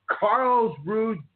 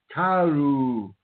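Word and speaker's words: Karlsruhe: My name is and I'd like to welcome you to Carl's Rouge, Germany. And that is not how you say it. Not you say something like tahoo or something like that. Karu, Germany.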